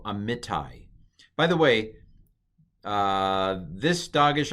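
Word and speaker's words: Amittai: Then me, and then tai. So this is a Yod, but it's a patak Yod. So it's I. It's kind of like I. But you can hear the Yod, can't you? Yeah. I. So amitai.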